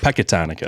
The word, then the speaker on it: Pecatonica: Yeah, and then we got our boy here from Pecatonica. Is that saying it right? That's correct. Patatonica? Pecatonica.